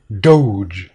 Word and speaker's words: Doge: a hard G but if I add an e to it two things happen the all becomes longer to O sound the gut becomes softer to G so we would pronounce this word Doge what the heck is